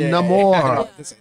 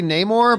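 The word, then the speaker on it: Namor: that's that's how they that's how they pronounce it Nam more I still say neyar but they go Nam more more hello I'm the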